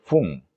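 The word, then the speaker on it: 分: Ok, ese se lee fun, fun, pero notemos que tienen unas excepciones en el 1, ok, en el 8 y en el 10.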